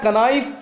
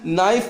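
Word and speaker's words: knife: क्या पढ़ोगे नीड करोगे नीचे आओ नाइफ लिखा हुआ क्या कनैफ पढ़ा क्या ए जाएगा नाइफ क्या हो जाएगा सेल हो जाएगा क्योंकि इससे पहले के हैं तो अब तुमको के को नहीं पढ़ना है एन से शुरू करना है नाइफ पढ़ना है लेकिन लिखना क्या है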